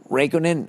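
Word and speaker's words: Räikkönen: the first non-english non-german driver since kimmy uh raikkonen is how you say his name it's only a legend who retired today in 2007.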